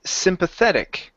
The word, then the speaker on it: sympathetic: Next one here is sympathetic. Okay, our stress is right here towards the end.